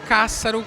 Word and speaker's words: Cássaro: Então, eu tenho o meu Instagram, que é o @BrunoCássaro, só que se escreve K-S-A-R-O. É, K-S-A-R-O, Cássaro. É que já tinha o Cássaro sem o escrito normal, né?